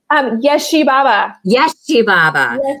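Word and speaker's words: Ježibaba: Yeshibaba.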